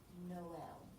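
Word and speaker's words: Noël: no l right so you pronounce the o and the e the reason you do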